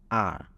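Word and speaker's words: 二: need to be pronounced notice that the last two is not pronounced leang when there is another two right here is not pronounced leang but R why you ask why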